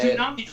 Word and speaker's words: tsunami: Tsunamis last. You know what I mean? They got a little bit of staying power, don't they? A tsunami. They're pronounced a tsunami. Tsunami? There's a T at there.